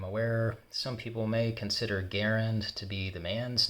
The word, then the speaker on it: Garand: By the way, I do say Garand because that's the way Mr. John C. Garand, the inventor, pronounced his name. I'm aware some people may consider Garand to be the man's name and Garand the rifle's name.